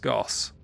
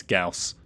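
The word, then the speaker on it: Gauss: What's our best Goss? I say Goss. I know I do. It's Gaus. It is a person's name and guess is how it's said, but I cannot unlearn it.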